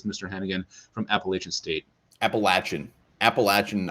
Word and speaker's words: Appalachian: Appalachian, I believe, is the way to pronounce it.